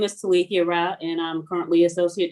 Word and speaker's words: Talithia: We pronounce your first name Talithia. Is that right? Talithia, the H is silent.